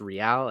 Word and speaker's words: Real: I'm going with Real Madrid for no other reason than it's pronounced Real, and I know that more than most of America does.